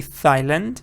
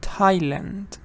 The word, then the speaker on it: Thailand: see th but you don't say Thomas you say Thomas exactly like what do you see th but you don't say Thailand you say Thailand Thailand so you have to